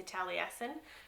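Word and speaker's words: Taliesin: by the way lastly tally Essen by stevenh R lawhead so um I never knew how to say the title until I listen to the Audi book and they say tally Essen so that makes sense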